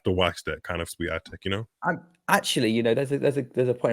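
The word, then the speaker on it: Świątek: Sorry if I'm mispronouncing her name. Swiatek?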